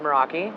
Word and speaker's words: Meraki: metal work why that name so it's actually pronounced moroi it's Greek okay and it's Greek for to